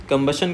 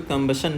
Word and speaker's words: combustion: यहां पे हमें बी से स्ट्रेच शुरू करना है। यहां से हमें लाउड पढ़ना है।